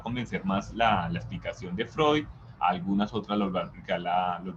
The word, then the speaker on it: Freud: conocido es signo freud se escribe así frío pero se lee freud el segundo es carl